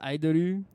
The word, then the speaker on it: Idoru: I guess maybe the correct pronunciation title is Idoru.